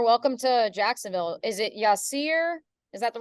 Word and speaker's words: Yasir: it hi Yasir welcome to Jacksonville is it Yasir is that the right pronunciation yes you got it right all right